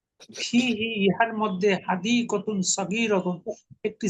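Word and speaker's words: فيه: হয়েছে, বাগান যে মানে হুর পূর্বে যদি জের আসে তাহলে হুটা হি হয়ে যায় উচ্চারণ সুবিধার জন্য। ফিহি ইহার মধ্যে হাদিকাতুন সগীরাতুন একটি ছোট বাগান আছে, কথাটা আরবিতে উজ্জ থাকে।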